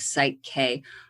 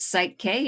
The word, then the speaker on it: PSYCH-K: to us about what site K is okay so site K and it's spelled for those who don't know it's Psy c-k so psych as in the psyche and it stands for